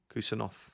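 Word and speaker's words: Khusanov: Kusanov is pronounced with an F instead of a V. Kusanov, like that.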